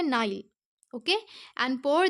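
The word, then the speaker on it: Nile: And pour the waters of द नील। देखिए, इसे जो नील है ये एक नदी का नाम है स्टूडेंट्स, इसे इंग्लिश का प्रोनाउंस करने का तरीका है नाइल, ओके।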